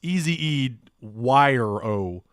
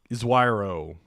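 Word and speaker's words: Ezewiro: Bradley Ezuero, is that how you say it? It's Easy Wire-O. Iswiro.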